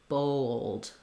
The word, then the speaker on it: bold: So thinking about like owl, bowl, bold, bold. So it's not really two syllables. We go quickly through this, bold. But if you kind of do owl, it's going to help you connect those two vowel sounds, the O plus the L.